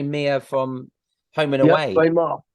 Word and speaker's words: Meagher: Ray Marr. His name's Ray Marr. It's spelled funny, M-E-A-G-R-E.